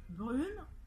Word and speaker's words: brune: Alors, si l'on passe au féminin, ça devient brune, d'accord? On ne prononce pas le E, en revanche, ça entraîne le fait qu'on prononce la consonne N.